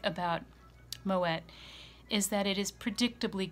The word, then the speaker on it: Moët: with the wine Fox with me today is moet and Chandon champagne now I would like to make something perfectly clear this is pronounced moet and the reason for that is the champagne